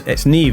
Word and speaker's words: Niamh: Niamh, and I'm like, "No, it's Niamh is the Irish pronunciation."